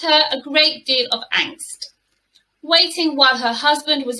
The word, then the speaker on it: angst: So this is word number three, and it's pronounced angst, angst. So I think it sounds quite Germanic, this word.